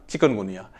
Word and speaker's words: chikungunya: come to last one चिकन गुनिया this is चिकुन गुनिया ठीक है लोग चिकन चिकन बोलते हैं चिकन गनिया चिकन गुनिया चिकन नहीं है चिकुन है ठीक है ना चिकुन चिकुन